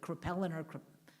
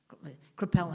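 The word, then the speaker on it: Kraepelin: a man called I never get it the pronounce it correctly krippeliner crepel and k-r-a-e-p-e-l-i-n who coined dementia precox and his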